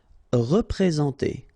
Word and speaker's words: représenter: Représenter. All right, remember that you get this N together, and then, well, it's a nasal, so it goes in your nose, and it's en.